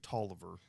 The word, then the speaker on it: Taliaferro: So it's he pronounces it Tolliver. It's the way it's spelled. It looks like it would be phonetically Taliaferro.